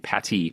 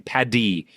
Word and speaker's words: Paddy: And make sure I don't pronounce it with T's. Uh, my wife gets angry if it sounds like I'm saying Patty, but I'm saying Paddyy the Wanderer.